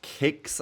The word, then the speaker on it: CleanX: Now, just quickly on CleanX, his gamer tag is pronounced Kicks, I believe, which is what they sometimes call him.